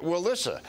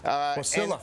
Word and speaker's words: Wasilla: And she also hired lobbyists to get $27 million in earmarks for Wallissa, if I think that's how you pronounce where she's from. Wasilla.